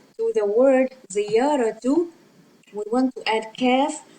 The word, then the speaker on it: زيارة: Okay, ziyaratu means a visit, and this last letter is ta actually, but this is how we write it when it is final and when it is not linked to the preceding letter, which is ra,